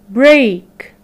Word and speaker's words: break: the word the break they both has they both have the e a letter pattern pronounce it as the long a a so these two words have have the e a letter pattern pronounce it as long e a like great and break so as for the